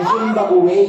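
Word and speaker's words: Zimbabwe: niyo lang po kayo sa fimbab ay ang tamang pronunciation po ay zimbabu Zimbab one actually meron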